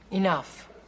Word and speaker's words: enough: is Big He in enough what see the GH at the end of that word that's pronounced like an F if they want it